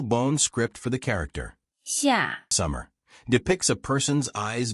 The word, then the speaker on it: 夏: The pronunciation of 夏 is similar to the English word shark, without the cape sound.